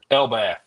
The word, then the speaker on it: Elbaf: which is uh One Piece uh the the Elbaf Saga. Am I pronouncing that right? Elbath.